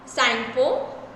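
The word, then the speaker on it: Tsangpo: The Brahmaputra originate in south west Tibet as द यालंग सांगपो. इसमें T silent है.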